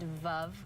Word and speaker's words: Veuve: so this one is pronounced above Cliquot love like love is a great way to remember it reminds with love especially